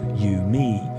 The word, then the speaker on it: UMI: The agreed protocol was dubbed universal musical interface, UMI, pronounced U, me, until Dave Smith aired his displeasure with a